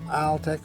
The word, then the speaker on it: Altec: We're using Altec or Altec, they pronounce it both ways.